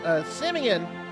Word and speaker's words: Simeon: Now the Jewish faith has 2 points, because you have Simeon, which I've always pronounced that as Seaman accidentally.